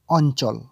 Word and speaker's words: অঞ্চল: চ ধরবে ল কে অ আর ন অন চ আর ল চল অঞ্চল এখানে একটা বিষয় মাথায়